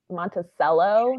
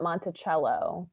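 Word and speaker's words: Monticello: I mean like the like the the town like near where I grew up was called Mont Monteello, not Montichello.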